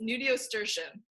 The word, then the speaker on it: nudiustertian: It's Nudiustertian. Nudiustertian? Yeah. Hmm. I can there spell are it. A lot of pieces to that word. Yeah, it's Nudiustertian.